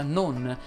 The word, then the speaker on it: non: Ho usato molte volte la parola con e alcune volte la parola non. Entrambe vanno pronunciate con la O chiusa.